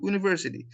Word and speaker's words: university: umbrella and university هما الاتنين بادئين ب U sound صح؟ umbrella university. بس لاحظ النقطة the difference between them in pronunciation. I said umbrella umbrella, but I say university.